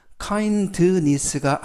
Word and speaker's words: kindness: 이때 알파벳 D가 묵음은 아니지만 발음할 때 거의 발음이 나지 않습니다. 그래서 kindness가 아니라 kindness, kindness 라고 발음하시면 좋겠습니다.